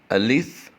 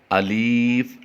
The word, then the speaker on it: الف: میں قبول فرمائے۔ آمین۔ الف، الف، الف۔ یاد رہے، اسے ہم الف پڑھیں گے، الیف لمبا کر کے نہیں پڑھیں گے اور نہ ہی الف پڑھیں گے، بلکہ اسے پڑھیں گے الف، الف، الف۔ با، با، با۔ یہاں